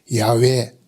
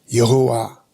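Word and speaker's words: 야훼: 스스로 있는 자다 그게 야외 여호와 그 말입니다 히브리어는 모음이 없기 때문에 발음을 못합니다 붙여서 하는데 그래서 야외 왜 또 정확한 발음도 아니에요 영어 발음으로 해서 여호와 그런 겁니다 여호와 이름을 불러라 그러잖아요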